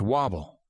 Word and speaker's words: WABL: It was the debut season for the Albuquerque Rattlers and their parent league, the Western America Basketball League, or WABL, which the rags in the newspaper pronounced wobble.